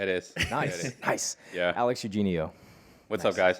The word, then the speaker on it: Eugenio: professional DJ, Amazon FBA guru, he is Alex Eugenio. Is that how you say it? Alex? Yeah, it is. Nice, Yeah, it is. nice. Yeah. Alex Eugenio.